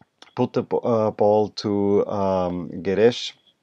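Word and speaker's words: Guedes: up up all too garish or Geddes I wanna say garish but it's Geddes probably who had thought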